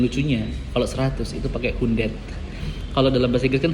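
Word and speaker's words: hundert: 1000 pakai 1000 dan yang lucunya kalau 100 itu pakai hundet. Kalau dalam bahasa Inggris kan 100. Kalau ini ya bacanya ya agak sebenarnya enak ini. Hundet. Hundet itu kayak sesuai dengan tulisannya hundet.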